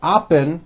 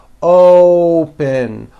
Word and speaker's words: open: to say this word you're not saying OPP with an a you're using that hidden W you're bringing your lips forward and you're saying open open like that so let's practice some